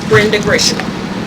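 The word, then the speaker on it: Brenda Grishan: family member speak can you say your name Brenda gishan spell it sure b r e n d a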